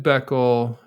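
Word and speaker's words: Bækkel: And we should note that it's like a Danish ae blend or something.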